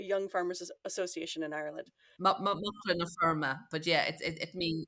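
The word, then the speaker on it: Macra na Feirme: But how do you pronounce the Young Farmers Association in Ireland? Muckler na firma, but yeah, it means it's Irish for young farmers.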